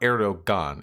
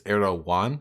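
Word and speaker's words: Erdoğan: So to clarify, it's not Erdogan, it's Erdogan. Have I been fucking that up? You pronounce G's like Y's if I recall correctly.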